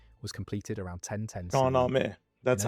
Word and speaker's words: Shahnameh: Shahnameh. That's In how over it's pronounced in 50,000 Farsi.